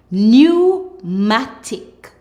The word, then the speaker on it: pneumatic: When you see PN in a word, the P is silent. PN says N. Let's go. Pneumonia, pneumonia. Pneumatic, pneumatic.